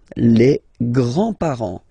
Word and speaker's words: grands-parents: Les grands-parents. Les grands-parents. Remember, you don't pronounce this final S here.